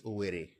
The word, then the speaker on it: Owerri: I've never heard anybody pronounce this word as Owerri. It's always Owerri. Owerri. That's how it's pronounced.